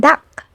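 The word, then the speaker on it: 닭: When you see these final consonants at the end of your syllable, you only need to pronounce the k sound. Like in the word duck, which means chicken.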